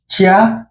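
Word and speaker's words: ちゃ: এবার হচ্ছে চি দিয়ে। চি এর ক্ষেত্রে হবে চা। এটা চিয়া হবে না, এটা হবে চা।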